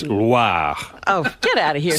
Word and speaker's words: Loire: But the Loire Valley is pronounced It's the how? Loire Valley. No. What is- Loire Oh, no. Valley. Oh, I didn't Not roll the Loire. R. It's not LWA. Oh. It's Loire.